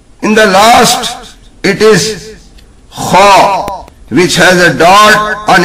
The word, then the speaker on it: خ: In the last, it is kha, which has a dot on its head. This is pronounced from the front of the throat. It should be read loudly, whatever accent it is given. Pronounce kha like this.